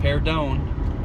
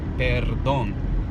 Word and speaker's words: perdón: means excuse me perdón instead of saying pare down try tighten your lips okay daddy hey dawn they don't actually it's not pay it's perdón but since you are